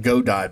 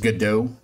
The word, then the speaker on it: Godot: I would call it Godot, but evidently it's pronounced Godot.